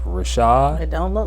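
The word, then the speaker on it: Rvshvd: his name is Fordham told his name is pronounced Rashad it don't look like it but it's spelled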